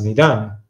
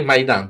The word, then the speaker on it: Maidan: nel 2014 quando spararono la famosa piazza medan correggimi se la pronuncia esatta perché vedi il popolo in realtà Basta dire maidan perché Piazza vuol dire maidan sì scusami Scus Hai